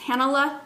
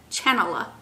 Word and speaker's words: Chanala: She's traveling sock knitter with Hannah, and on Ravelry she's Hanala, but it's spelled Chanala, like Chanala, but she don't say it that way.